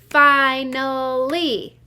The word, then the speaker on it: finally: clap it up together finally it looks like that first syllable is a closed syllable f i n but i hear a long i sound that seems tricky let's